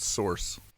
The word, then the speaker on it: Sorxe: there's a band called source it's not spelled like that though how is it spelled oh